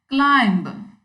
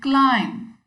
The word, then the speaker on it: climb: It should be climb. So we can understand this point when we see that it rhymes with time.